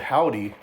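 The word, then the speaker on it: HOVVDY: Number 18 is an Austin band called Howdy, and it's spelled the Always way, H-O-V-V-D-Y.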